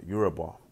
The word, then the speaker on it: Yoruba: basically denouncing this term, this name, Yoruba, or Yoruba, as it's correctly pronounced.